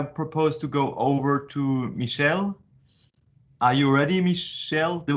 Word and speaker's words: Michiel: Okay, so it's Michiel, but it's a little hard to pronounce for non-Dutch speakers. Michiel?